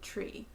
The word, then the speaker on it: tree: word tree tree like tree tree it turns out that the sound that we pronounce in tree is not a T sound it's a it's really more of a CH sound huh mind-bending you have